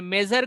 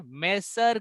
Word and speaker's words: measure: अरे मेजर कर लो, मेजर कर लीजिए, मेसर कर लीजिए, नहीं, मैं ज.